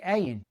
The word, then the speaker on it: Ayin: Once again, we come to a word that starts with a guttural consonant that we don't use. Therefore, what we usually pronounce first is the vowel. The vowel that comes after it, it's a short a-class vowel that makes the a sound.